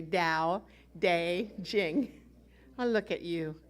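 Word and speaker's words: Tao Te Ching: dao day ching is spelled c-h-i-n-g but say it like there's a j instead of a c-h dao day jing say dao day jing i look at you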